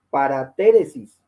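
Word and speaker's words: παρατήρησις: Esa palabrita escrita ahí, según la pronunciación, es paratéresis. ¿Qué significa?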